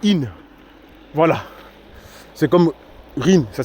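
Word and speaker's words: Isnes: Ça s'écrit Isne, mais c'est pas Isne, c'est In.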